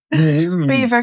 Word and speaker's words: Belvoir: Beaver Castle is spelled Belvoir.